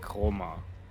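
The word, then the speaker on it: χρώμα: Yeah, because non-native speaker have apparently trouble to pronounce the kr. Mm. The kr. Yeah. Roma. And they usually say then just chroma with a K.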